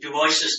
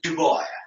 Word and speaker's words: Du Bois: By the way, I should point out here that many pronounce Du Bois's name as Du Bois. It's actually Du Bois, and Du Bois himself pronounced his name that way, and we have proofs of that.